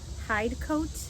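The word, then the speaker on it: Hidcote: The one I'm going to show in this video is a lavender hide coat, I think is how it's pronounced. Hi D C O T E.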